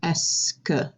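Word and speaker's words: est-ce que: there the est de all of that makes the sound s okay just like you're saying the letter s and then this word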